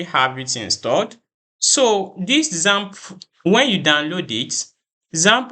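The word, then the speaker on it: XAMPP: I'll be I'll be recommending either wamp or Zam server so let's just go to Google and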